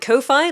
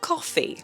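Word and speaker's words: Ko-fi: I want to pronounce it Kofi like Hi-Fi, but apparently it's pronounced coffee.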